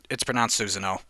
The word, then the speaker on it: Susanoo: It's pronounced Susanoo.